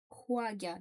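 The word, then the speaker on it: 화가: Alors, du coup, wa, waga, Huaga d'ailleurs, plutôt, avec un H qui se prononce comme en anglais.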